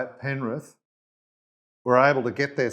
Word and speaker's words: Penrith: if I were to ask every player on penrith did I pronounce that okay yes what was the other